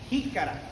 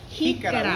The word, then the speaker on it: jícara: Jícara. Jícara. We spell it J-I-C-A-R-A.